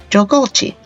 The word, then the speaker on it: Jagalchi: First, let's pronounce the name, Jagalchi.